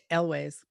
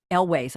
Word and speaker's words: Elwes: Is it Elwes or Elwes? Elways. Elways. I never know how to pronounce it.